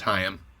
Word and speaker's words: Haim: We'll get back to you on a real pronunciation on that. It's haim.